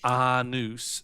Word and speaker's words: Anus: Pronounced Arnus, and I'm quite sensitive about it.